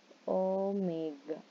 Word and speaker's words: omega: kita lambangkan dengan W Tapi bacanya bukan W Tapi bacanya Oh Omega jadi Omega sama dengan